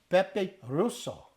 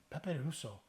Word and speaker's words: pepe rosso: Red pepper is pronounced as Pepe Rosso. Yeah. Pepe Rosso.